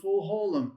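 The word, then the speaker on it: חולם מלא: That is a full holm. Absolutely. The vav becomes silent becomes a placeholder and you just pronounce the vowel. That is your full holm which is going to be o sound is in toe.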